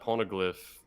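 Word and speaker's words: poneglyph: chapter for her because she searched for that pornoglyph is that the right pronunciation yeah yeah sorry i'm dying um we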